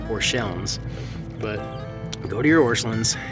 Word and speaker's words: Orscheln: see see right here it's spelt ORS CH e l NS not L ENS so really it should be pronounced or shellings but go to your